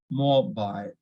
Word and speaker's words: mobile: So it should, we need to stress on MO, mobile, mobile, mobile.